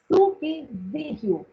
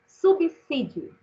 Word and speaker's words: subsídio: Na palavra subsídio, o S está entre duas vogais? Não. Duas consoantes. E quantas vezes a gente ouve as pessoas falando subsídio, não é isso? Então, aprendamos. A palavra deve ser pronunciada assim, subsídio.